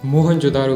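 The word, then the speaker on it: मोहनजोदड़ो: आओ दोस्तों आज हम मोहन जोदारो की गलियों में घूमते हुए हमारे प्राचीन गौरवशाली इतिहास को महसूस करने की कोशिश करते हैं मोहन जोदारो शब्द का सही उच्चारण है मोहन जोद और इसका मतलब है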